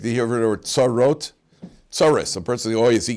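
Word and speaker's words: צרות: Like you ever heard the word tsarot? Tsaris, a person, yes, he got tsaris. Tsaris is just the mispronunciation of tsarot.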